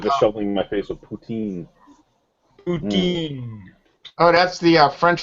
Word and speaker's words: poutine: Yeah, you gotta pronounce it poutine, or you get dirty looks. And even if you do pronounce it right, you still get dirty looks.